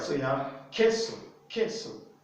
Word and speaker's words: queso: all right so yeah queso queso the u is not pronounced there because the u comes